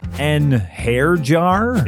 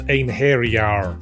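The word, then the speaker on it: Einherjar: An hair jar? It's pronounced ein hairyar.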